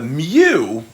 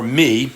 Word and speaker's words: mu: tension all right now the MU or me if you pronounced incorrect Greek this is not the